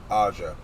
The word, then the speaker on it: Aja: So the best way I've learned on it, because when he told me, I said it's like Raja, but without the R.